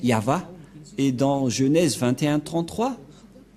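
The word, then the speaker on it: יהוה: Yod, He, Vav, He. C'est l'alphabet hébreu qui est prononcé Yahva.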